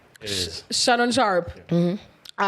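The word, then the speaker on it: Shannon Sharpe: the story no okay is that how you pronounce his name it is shanon sharp mhm all right oh the the guy with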